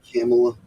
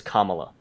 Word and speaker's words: Kamala: don't want to pronounce her name wrong. Um, Kamala makes me think of her with a camel body. I think Camel it's like I that. think pronunciation wise it's Kamala.